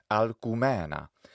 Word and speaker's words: Alcumena: Well, this could be Latinized as Alcmena, but in practice the preference was for Alcumena, which was just euphonically preferred. It was just prettier sounding to the Latin ear, Alcumena.